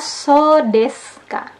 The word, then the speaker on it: そうですか: Di pola 7 ada so desu ka. Ketika menerima informasi baru, ekspresi ini digunakan untuk menyatakan telah mengerti. Diucapkan dengan notasi menurun. So desu ka.